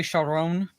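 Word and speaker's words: Charon: You know, pronounced in the movie Sharon, basically, but basically it's the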